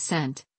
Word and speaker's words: Cent: in Old English as cent cent lond centuries all pronounced with a hard C as Kent in Latin sources Kent